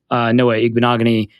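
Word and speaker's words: Noah Igbinoghene: 19 and then no corners went until a Noah ignominy I just love saying that name now that I know how to pronounce it went to the Dolphins and the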